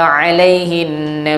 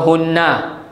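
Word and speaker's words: عَلَيْهِنَّ: Kenapa baca hinna tak baca hunna? Sebelum huruf ha ada huruf ya mati.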